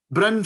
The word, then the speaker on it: Bryn: today thank you shannon thank you for such an accurate pronunciation of my name which is which is a rare delight most people call me brian at first attempt so i'm really happy